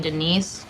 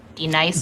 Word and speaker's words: Denise: Do you mean Denise? Son of a bitch. You say your name right now. Denise? Say it right. Denise. Correctly. Denise. Right. Denise. Right. D nice. That's better.